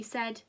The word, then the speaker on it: said: if you spotted that head rhymes with said super work now said is a bit of a tricky word isn't it and it doesn't look the same as the spelling of head but they both have